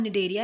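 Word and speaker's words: Cnidaria: एक का नाम निडेरिया रख दिया गया है, इसमें सी साइलेंट है, और एक का नाम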